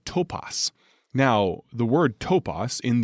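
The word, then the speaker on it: τόπος: Now, that word place, it has at its root a word pronounced topos.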